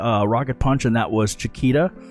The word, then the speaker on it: Chiquita: punch and that was chiquita or chikata as they pronounced it so i'm really excited